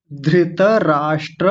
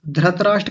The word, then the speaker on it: धृतराष्ट्र: इधर ये ध है। ध से धनुष होता है ना और उसके नीचे रिकार बना हुआ है। ऋ ऋ से ऋषि जो होता है ये वो है। धृत राष्ट्र ऐसे सबसे पहले देखेंगे धृत राष्ट्र इस शब्द को बहुत लोग गलत बोलते हैं।